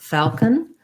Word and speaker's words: falcon: Foul, it has an A vowel, first syllable stress, falcon. And then again, here's our syllabic N. We don't really say that O, we don't really say falcon or falcon, falcon. So basically no vowel there or a tiny little schwa going from the K to the N, falcon. Falcon, that's definitely a dark L, and I'm not overly pronouncing that L.